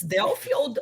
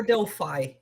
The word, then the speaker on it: Delphi: with my English um apparently you pronounce Delphi correctly so um it's delfield or Delphi I never know yeah I don't think anybody knows but both both are good yeah I I saw